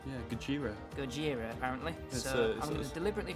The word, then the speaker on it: Gojira: the first win of the season I've been pronouncing go hero wrong Gojira Gojira apparently it was deliberately pronounce it incorrectly